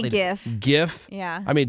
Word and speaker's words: GIF: mean it's GI yeah GIF is the correct way to say it but from the guy who from the guy who invented it but I had just a bunch of groans in this room about it because the people argue where the G stand for graphical a hard G not a soft G okay yeah jerks girks